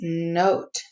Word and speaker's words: note: The O says its name, and there's a silent E at the end that makes this a CVCe pattern and a long vowel.